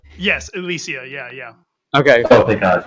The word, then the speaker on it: Ilysia: Right, so pronunciation is Ilysia. Yes, Ilysia, yeah.